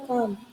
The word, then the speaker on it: calm: Yang kedua ada calm, dibaca calm. Penjelasannya mirip dengan far, kombinasi huruf A di beberapa kata menghasilkan suara vokal panjang A, huruf I dalam calm, huruf L dalam calm tidak terlalu terdengar.